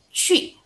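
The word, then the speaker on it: 去: Nah jadi kalau Q ketemu kata U, dia langsung baca dengan mulut monyong, jangan lupa, tapi keluarin seperti I ya. Mulut monyong tapi seperti ngomong I. Jadi ci, ci gitu.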